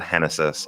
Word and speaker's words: Genesis: handed pitcher henesys Cabrera spells his first name Genesis pronounces it henesys I like that Irish